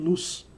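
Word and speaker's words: לוז: aí deixa me explicar Vou colocar aqui a palavra luz no hebraico tá aqui ó luz e pronuncia-se assim mesmo luz só que você percebeu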